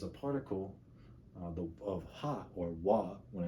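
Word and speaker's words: は: so leaning on the wall, and they're just dancing with their hands. So I guess that's a good way to remember it. But when it's used as a particle, it's actually pronounced wa.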